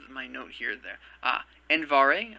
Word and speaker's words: Andvari: note here there ah andvari i believe it is pronounced and beto for the